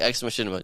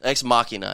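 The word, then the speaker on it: Ex Machina: a really good movie like ex machinima check it out it's on uh x machina i think it's called i keep saying it wrong i even said it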